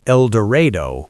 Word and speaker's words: Eldorado: Saline County's Eldorado, locally pronounced Elderado with a stubbornness that feels almost defiant, registered 3,739 residents in the 2020 census.